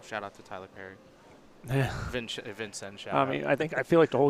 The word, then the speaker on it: Vincennes: Went up to Indiana Bowl at Vincennes, which I believe you Chris? went there too. I went to Bean Scenes. That's how they say it out there.